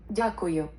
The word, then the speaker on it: Дякую: What is this one pronounced? Дякую. Дякую.